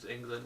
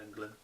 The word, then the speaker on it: Englund: but the problem is Robert Englund, or England, whatever you want to pronounce his name. I pronounce it Robert Englund.